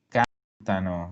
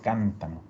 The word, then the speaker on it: cantano: cántano. Bien, lo mismo que antes. Si no puede cargar el acento en la terminación, va a cargar en algún punto de la raíz. Entonces, loro cántano.